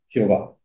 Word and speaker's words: Jehová: El nombre se pronuncia Jehová, prestándole los signos vocálicos de la palabra no prohibida Adonai, Señor.